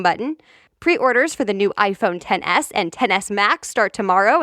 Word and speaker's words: iPhone XS: new iPhones number one iPhone 10s yes it's written like iPhone X but it's actually pronounced like the Roman numeral so iPhone 10s then